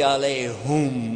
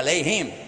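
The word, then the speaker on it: عليهم: Ghayrul maghdubi alayhum wala dhalin. Whoops. Huh? Ooh, yeah, alayhim, huh? Actually, it's both because there is another pronunciation, but the common one.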